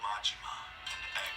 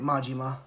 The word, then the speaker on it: Majima: As he said, Goro Majima and Okay, I was pronouncing it right. Majima.